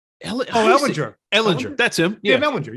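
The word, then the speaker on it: Ehlinger: Not Ellen. Ellinger.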